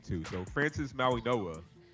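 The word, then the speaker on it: Mauigoa: It's pronounced Maui Noah. That That's just how it is. Maui Noah.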